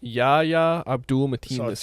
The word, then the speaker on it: Yahya Abdul-Mateen II: I can't pronounce the actor's name. Yaya Abdul Matim.